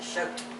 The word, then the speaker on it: Choat: That's interesting, because mother's mother was a Shoat from Sparta. Oh, No S. this is a CH. C-H-O-A-T. Oh, and it's Shoat. pronounced shoat, Shoat. not ch.